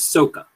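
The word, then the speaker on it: Sokka: at all don't matter saka's name is based off a word in japanese and that word is soca which is how they pronounce it in the movie and like soca in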